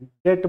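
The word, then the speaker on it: debt: कर्जा होता है ना, डेप्ट, ऋण जिसको बोलते हैं, लोन बोलते हैं, डेट बोलते हैं, अंग्रेजी में बी साइलेंट हो जाता है, डेप्ट मत बोलिएगा, डेट बोलिएगा।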